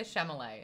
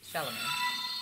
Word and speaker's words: Chalamet: a timothy chameleo chalamet i get his name wrong all the time i say chamolay and it's shalom uh screaming fetus [